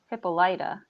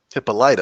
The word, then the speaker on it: Hippolyta: how do you say that i would say hippolyta hippolyta okay so you actually are on the same plane as the tv show lovecraft country because there's a character on that show who has the name hippolyta will say right and one of the actors